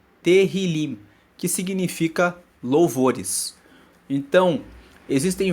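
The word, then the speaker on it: Tehilim: original hebraico corresponde a terim terim se escreve t e h i l i m terim que significa louvores então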